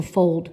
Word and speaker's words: fold: and I hate to fold clothes, but let's tap the word fold anyway because we need to. Ready? Old. Fold. Oh, do you hear that closed syllable exception, that glued sound old?